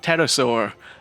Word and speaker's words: pterosaur: calling it something like pterosaur or even better pterosaur they could even have a tagline about having a silent P from fear when you ride it jokes aside this